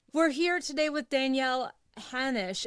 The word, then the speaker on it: Hanosh: We're here today with Danielle Hannish. Am I saying your last name right? Yep. It rhymes with Spanish.